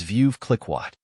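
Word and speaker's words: Veuve Clicquot: UV c i c q t the correct pronunciation of this word is vi cliatt vi cliatt means a French champagne house founded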